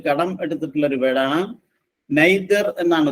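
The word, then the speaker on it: nadir: ആർ അത് ഇംഗ്ലീഷിലേക്ക് കടം എടുത്തിട്ടുള്ള ഒരു വേർഡ് ആണ് നൈതർ എന്നാണ് ഉച്ചാരണം അതിൻറെ അർത്ഥം the lowest point of anything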